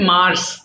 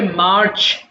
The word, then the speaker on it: March: এটা আমরা অনেক সময় বলি মার্চ, মার্চ হবে না, সিএইচ থাকলে ছয়ের মতো উচ্চারণ করতে হবে। তো তুমি যেখানে রিডিং পড়বে সিএইচ পাবে, ছ হয়ে যাবে, এটা হয়ে যাবে মার্চ, মার্চ, মার্চ।